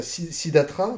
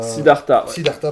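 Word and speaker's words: Siddhartha: Donc il y a Sidatra, donc qui a Sidarta, pardon. Euh je prononce mal, tu fais bien de me reprendre.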